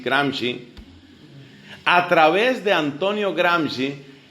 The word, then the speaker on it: Gramsci: Luego, a través de un pensador, ideólogo y politólogo italiano llamado Antonio Gramsci, se escribe Gramsci, Gramsci.